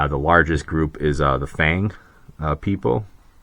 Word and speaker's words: Fang: largest group is the Fang people like literally like Fang like Dracula that's how it's spelled and pronounced uh they basically cover